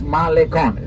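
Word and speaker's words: Malecón: ocean drive known as malecon be careful with the pronunciation right yes i'm not going to go deeply into the subject but it's malikon here the sea wall right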